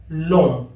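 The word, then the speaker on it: Lomé: और टोगो जो है इसकी राजधानी जो है दोस्तों वो है लोम या लोमे के नाम से इसको संबोधित करते हैं।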